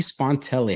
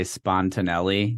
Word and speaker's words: Spontelli: they tend to say spontanele add um some extra syllables in there but you nailed it